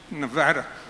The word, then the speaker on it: Nevada: phoning people in Nevada notice my pronunciation Nevada I've been talking to